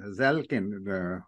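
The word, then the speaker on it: Zaleznik: so way back Abraham zalin if I pronounce it right z a l e z n i k um in in the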